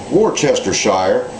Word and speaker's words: Worcestershire: whole lot but a little bit of uh Worcestershire which actually is pronounced Worchester Shire because it comes from the area of England called Worchester where it was invented back in 1837.